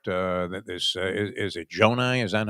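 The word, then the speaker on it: Johni: Uh that this is it Jonai. Is that how you pronounce it? They It looks like a weird way to spell Johnny, but they kept calling him Janai.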